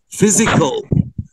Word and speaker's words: physical: يبقى انت هيبقى عندك كلمات درسين: exercise, healthy diet, exercise, healthy diet, unhealthy habits, mental, mental, summer camp, physical. ال pH بتتنطق F هنا.